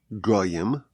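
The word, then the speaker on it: גוים: So the word is pronounced as goim nations but the word is spelled as gaim proud ones.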